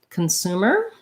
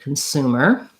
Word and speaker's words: consumer: So consumer first, second syllable stress. So because that CON is unstressed in the first syllable, it's going to have a schwa vowel, and it's going to sound like kun.